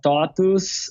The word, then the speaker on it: TOTVS: He is the founder of TOTUS. Of what? Which is TOTVS. Spell it.